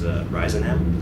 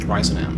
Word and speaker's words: RISONAM: Yeah, it's pretty open for anybody, but the official pronunciation is RISONAM. RISONAM.